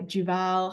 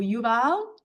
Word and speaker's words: Yuval: um the book by Juval Hari I always get his name wrong um Juval or Yuval Noah Harari um Sapiens, very very famous book.